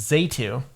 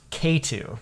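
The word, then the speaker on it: Xatu: I found out that is not how you pronounce it. Uh-oh. Yeah, so I have a correction for my entire For your life. It's actually pronounced K2.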